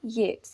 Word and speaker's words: Yeats: First of ऑल आप poet के name की प्रोनाउंसिएशन करेक्ट कर लीजिए। अक्सर बच्चों को मैंने कहते हुए सुना है W.B. येट्स। ये येट्स नहीं होता है, ये होता है येट्स, W.B.